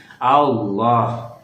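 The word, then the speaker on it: الله: Jadi di dalam sebelum lafaz Allah ada baris patah dan baris domah, berarti dibacanya tafhim. Allah, subhanallah, Allahu akbar, Allah.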